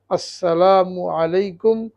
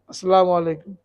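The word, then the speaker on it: السلام عليكم: যিনি উত্তর দেবেন তিনি বলবেন ওয়ালাইকুমুসসালাম ওয়ারাহমাতুল্লাহি ওয়াবারাকাতুহু তো খুব খেয়াল করে স্পষ্ট করে আসন উচ্চারণ করতে হবে মু আলাইকুম আসসালামু মমের উপরে পেশ এটাকে মারুফ করতে হবে তো এটা অনেক বড়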